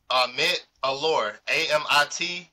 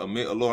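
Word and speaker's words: Amit Elor: Her name is, excuse me, I don't want to pronounce her name wrong, but Amit Allure, Uh-huh. Amittelor. She popped right up. Amit Alor, I'm pretty sure you pronounced it right.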